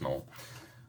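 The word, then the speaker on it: gnoll: of course our favorite granola or knoll i i know it's pronounced null oh this one actually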